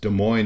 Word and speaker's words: Des Moines: Des Moines of course Des Moines is there because it rhymes with coin but also because Des